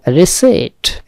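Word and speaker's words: receipt: হচ্ছে কারণ, হেতু, দোষ, রিসেট, এইটাও একটা সাইলেন্ট ওয়ার্ড, খেয়াল করতে হবে, পিয়ের উচ্চারণ হবে না, রিসেট মানে হচ্ছে রসিদ,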